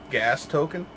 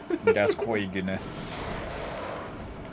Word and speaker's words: Gascoigne: I was watching a dude play Bloodborne the other day, and he made the joke, like, Americans trying to pronounce Father G's name. Gas token? Gascoigne.